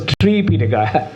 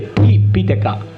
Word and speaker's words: Tipitaka: That's a part of Sanyutta Nikaya, triple canon, Tipitaka and Pali. We don't pronounce Tripitaka. If you pronounce Tripitaka, it is like Sanskrit.